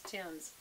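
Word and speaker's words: Thymes: And this brand is Tim's, which is spelled T-H-Y-M-E-S.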